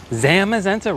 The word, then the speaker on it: Zamazenta: Casters during the championships last year said Zamazente is pronounced like a short a like zamenta. Zamazenta.